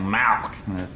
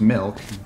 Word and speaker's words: milk: You're saying Malk, like it's a disease. How do you say it? I'm saying it the way everyone ought to say it, Milk, M-I-L-K.